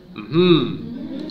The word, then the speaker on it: mmhmm: 个，哎，老师该知道怎么念吗？嗯哼，哎，就是嗯哼啊，然后